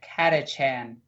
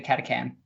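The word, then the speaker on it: Catachan: on catechin oh yeah I should probably say it right katha chan it's actually katha can it doesn't really matter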